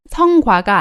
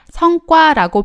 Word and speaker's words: 성과: 발음이 성과가 아니라 성과라고 발음하는 것을 주의하시기 바랍니다.